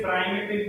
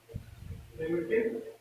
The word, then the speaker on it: primitive: कुछ लोग इसे प्राइमेटिव भी बोलते हैं। ठीक है, तो तुम्हें जो बोलना है वो बोलो, स्पेलिंग नहीं करेगी। प्रिमिटिव unit cell.